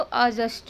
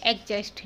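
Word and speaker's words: adjust: एग्जस्ट में D silent होता है और उसको हम क्या बोलेंगे, आ बोलेंगे, क्योंकि डी तो साइलेंट है, तो उसको आ बोलिए, ए नहीं, तो हम लोग क्या करते हैं उसको ए बोलते हैं, एग्जस्ट नहीं, आपको अजस्ट बोलना है।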